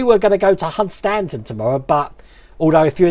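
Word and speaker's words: Hunstanton: all now we were going to go to hunt stanton tomorrow but although if you're in norfolk it's pronounced hudson um but apparently the weather's supposed to be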